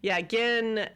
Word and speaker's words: Gin: They spell it Gin, and so when I write it in my notes, I put an H in there just to remind me that it's a hard G.